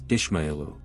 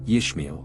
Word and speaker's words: Ishmael: cultures including ancient Babylon the oldest form of the name Ishmael is found in Acadian where it is pronounced as Ishu in other Semitic languages such as Phoenician and ancient Aramaic it is pronounced as yish ishmael's genealogy shows his